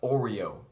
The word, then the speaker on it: Oreo: It's 3 syllables, Oreo. 3 syllables for the 3 layers. It starts with an O and ends with an O, kind of like a sandwich. The Oreo sandwich.